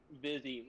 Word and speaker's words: Vizzy: Vizzy, like with the V, but spelled like fizzy. Okay. Vizzy.